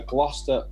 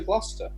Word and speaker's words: Gloucester: off to Gloucester? Because it rhymes with Foster, obviously.